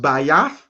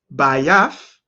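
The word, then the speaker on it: בית: The key word here pronounced Bayath, Bayath, but we know the X symbol is Tha, Tha.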